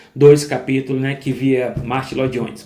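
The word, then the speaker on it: Martyn Lloyd-Jones: que também via Atos dois capítulos, né, que via Martin Lones, Martin Ly Jones, a pronúncia correta Mart Ly Jones, né, também tinha uma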